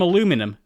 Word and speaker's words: aluminum: It was built from aluminum, and yes, I know I tend to pronounce that the American way, let's not get into